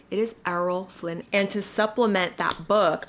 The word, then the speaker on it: Errol Flynn: It is Arrol Flynn.